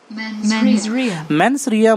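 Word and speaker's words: mens rea: आप इसका प्रोनाउंसिएशन एक बार सुनो। मेंसरिया मतलब होता है गिल्टी माइंड, इंटेंशन का गलत होना।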